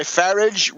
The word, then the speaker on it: Farage: Yip that's this guy farage Rhymes RH rhymes with garbage or other things uh